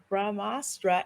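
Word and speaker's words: ब्रह्मास्त्र: the film is called brahmastra i believe and i'm so sorry if i got that wrong i pronounced it wrong but it's ramastra and part one shiva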